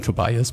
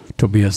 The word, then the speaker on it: Tobias: You might call him Tobias, but Tobias is a little bit more perfect.